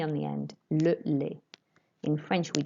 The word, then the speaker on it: le lait: Le lait. Don't pronounce the T on the end. Le lait. In French, we don't pronounce the T's on the end unless they've got an E after them.